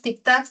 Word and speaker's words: tic-tacs: Decimos, los tic-tacs del reloj me recuerdan, ¿no? Había una canción que decía así. Entonces, tic-tacs es una palabra aguda, tiene la mayor fuerza de voz en la última sílaba, pero termina en doble